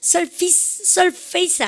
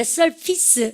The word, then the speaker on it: surface: 이거 발음하실 때 surface 그러면 정말 무식하고 중학교 때 공부 못했는 거 티나는 거거든요. surface 아니에요. face는 얼굴이지만 표면 그릴 때 surface 여러분들 이 발음입니다. 아시겠죠?